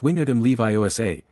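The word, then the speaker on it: Wingardium Leviosa: It's wingard leviosa. And the word ga should be pronounced long and clearly.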